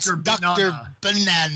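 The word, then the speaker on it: Dr. Banana: up it's not even you got to say it right because it's supposed to rhyme with Dr Savana right oh my God Dr banana I really like god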